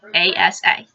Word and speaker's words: Asa: Then you have Asa, and that's how I choose to pronounce it. A-S-A, Asa, who is the